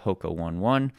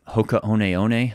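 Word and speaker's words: Hoka One One: Shout out to my title sponsor, Hoka 1-1. or Hokaoneone, I should say. That's how we pronounce it now.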